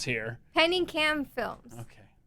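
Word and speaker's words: Pinikam: that says lizzy this is what i can't pronounce here penny cam films okay penny cam films yes p-i-n-i-k-a-m tell us about it so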